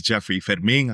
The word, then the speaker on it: Jeffrey Fermin: My name is Jeffrey Fedming. I always like to pronounce it the Spanish way, but everyone can call it the uh typical English way. Uh with that said, Jeffrey Fedming.